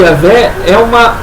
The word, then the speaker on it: Yahvé: Inclusive, Yahvé é o que os especialistas, os filólogos, conseguem ter uma ideia, eles sugerem que seja essa a pronúncia, uma vez que, como o judeu ele não pronuncia essa palavra, esse termo se perdeu com o tempo, a pronúncia dessa palavra se perdeu com o tempo. Mas pelas letras do alfabeto hebraico, sugere-se que seja Yahvé, né, conforme a transliteração